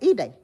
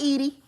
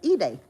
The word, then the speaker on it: Ide: And ever since then, I'm like, okay, it's Ide. It ain't Edie. It ain't Eddie. It's Ide.